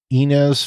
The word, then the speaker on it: Ynez: located in the Santa Ynez Valley. I think that's how you say it, Ynez, or in my Canadian heritage, Z.